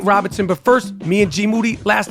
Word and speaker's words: Moody: Rapaport I'm here with G moody whose last name rhymes with duty yep you are now